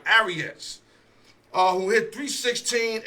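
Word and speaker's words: Arraez: They traded the batting title winner and Luis Arias, let me say it right, Arias, who hit .316, 8 home runs, 49 RBIs,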